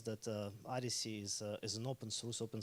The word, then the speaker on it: OHDSI: in the context of Odyssey as an open science community. So Odyssey, it's pronounced as Odyssey, it's spelled OHDSI, stands for Observational Health